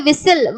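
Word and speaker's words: whistle: அதே மாதிரி விசில். விஸ்டில்னு சொல்ல மாட்டீங்க, விசில்னு தானே சொல்லுவீங்க. ஸோ விசில் விசில்.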